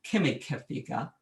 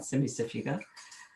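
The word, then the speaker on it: Cimicifuga: that it came out, it would be Kimikefiga, but we don't say that, Semisifuga.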